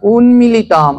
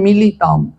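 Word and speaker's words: উন্মীলিতম্: বলছে অজ্ঞান উন্মিলিতম যেন উচ্চারণটা সুন্দর করতে হবে উন্মিলিতম আমরা শুনি সচরাচার সবাই বলে মিলিতম মিলিতম মানে মিলে যাওয়া যদি জ্ঞানচক্ষু এই মাংস চামড়ার সাথে মিলে যায় তাহলে আর ভগবানকে কি করে দেখবে ওর উচ্চারণ হলো কি উন্মিলিতম যেন আমাদের এই চক্ষুটা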